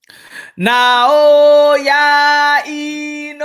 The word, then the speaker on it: Naoya Inoue: Naoya Inoue.